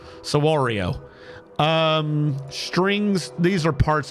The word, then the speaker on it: saguaro: fruit saguero sorry Saguaro I've been told that I'm saying it wrong it's not saguero sawario um strings these are